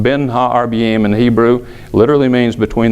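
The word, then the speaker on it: בין הערביים: is that expression that literally means is it's pronounced been ha our BM in Hebrew literally means between the evenings it's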